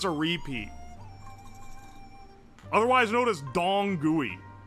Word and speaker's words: Dong Gui: Otherwise known as Dong Gui. Like, D-O-N-G-G-U-I is the pronunciation.